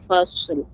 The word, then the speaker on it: fasl: Jadi tadi pengucapan fasal jadi dia agak lebih kita perbanyak shad ya, dia isti'la, naiknya suara ke langit tebal namun dia mengalir ya. Fasl kita gabungkan ya, yaumul fasl.